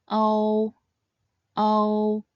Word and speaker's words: ou: So, when pronounced quickly, this compound final should sound similar to the expression oh, oh, oh.